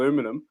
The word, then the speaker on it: aluminum: here's the debate right aluminium or aluminum uh either way you say it but in australia